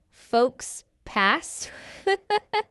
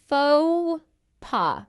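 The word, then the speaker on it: faux pas: We don't say folks pass. Instead, this is a French word and we're going to say it in the French style, slightly English style as well. We're going to say fauxpaw.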